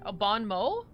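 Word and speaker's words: bon mot: game has for uh Mott is pronounced like Mo most Bon MO Bon MO th sounds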